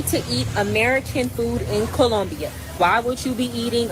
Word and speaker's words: Colombia: I'm sorry that you're hating on me because I actually know how to speak Spanish and I'm saying it I'm saying it correctly. It's Colombia. But Colombia.